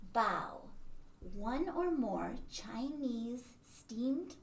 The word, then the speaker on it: bao: all sorts of different bow and the kitty is thinking bao like bao not like bo because there are different ways to pronounce it but the americanized way is bow oh there's amy whoa